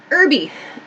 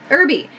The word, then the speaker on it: herby: awesome okay last one herbie irby if you are if you study british english you might hear this pronounced herb in american english we say herb verb this h sound we do not pronounce herb herbie so something